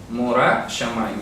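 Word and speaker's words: מורא שמים: Morah Shamayim, la pronunciación.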